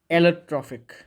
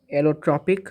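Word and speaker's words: allotropic: ठीक है, एलोट्रॉफिक, इसको स्पेलिंग आप लिख कर रख सकते हो। सॉरी, एलोट्रॉफिक, सॉरी ट्रॉफिक नहीं, ट्रॉपिक, एलोट्रॉपिक form of carbon.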